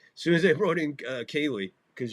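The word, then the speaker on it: Kahnle: As soon as they brought in Cayley, because you can't pronounce his name, the N's silent, so whatever.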